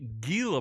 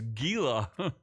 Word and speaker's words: Gila: they just kill them it's a soft G the soft G is Gila Gilla G Monster so the pet